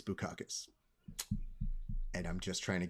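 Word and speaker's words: Bukauskas: bacchus for bu caucus now i understand how to pronounce his name and i understand why i wasn't trying to pronounce his name a certain way because it sounds like but instead it's bukakis and i'm just trying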